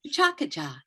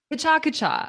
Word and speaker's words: Pecha Kucha: So I'm going to say Pecha Kucha. Okay. Chakacha? There you How do you go. pronounce it? Chakacha. Chakacha.